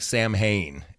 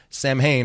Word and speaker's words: Samhain: It looks like Sam Hain, how it's spelled, Samhain, but it's really pronounced Samhain.